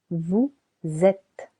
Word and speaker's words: vous êtes: Nous sommes Nous sommes silent s very good vous êtes vous êtes silent s il sont il sont alri let's have several short practices ready entraînement French will Al you can Ouais.